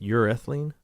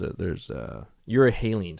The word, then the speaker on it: euryhaline: And these are how do you pronounce it? Urethane? Anyway, sharks that could be in rivers. There's euryhaline.